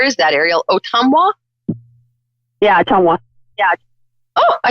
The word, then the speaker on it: Ottumwa: Yeah, Ottumwa.